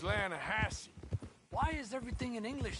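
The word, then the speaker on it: Lannahechee: trout you mean the atlanta hassie river no no no no no the the lana hatchy it runs right near here yeah but it's pronounced land hassey why is everything in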